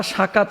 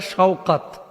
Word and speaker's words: শওকাত: হয়েছে সাকাত গাজী তো বাংলা ভাষাভাষী আমরা আসলে উচ্চারণ ভুল করে থাকি নামটা সাকাত হয় না হইতে পারে শওকাত তো এটাকে আমরা বাংলাদেশে ওই যে আমি দেখেছি উত্তর অঞ্চলে নামটাকে আবার অনেকে বলে শকত সৈকত এরকম বলে ফেলে সাকাত লিখেছেন সাকাত গাজী